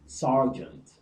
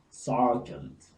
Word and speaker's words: sergeant: And the last one is E in ER, as in sergeant, sergeant. The R is pronounced.